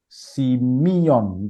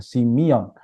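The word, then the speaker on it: σημεῖον: Di sini kata tanda dalam bahasa aslinya adalah simion. Itu bacanya ya, simion.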